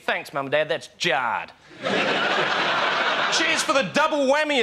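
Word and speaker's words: Jarred: Jared.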